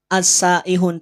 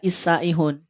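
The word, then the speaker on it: السائحون: namanya Sketsa harakat fathah maka dibaca a asaihun tidak isaihun memang sudah aturannya demikian jika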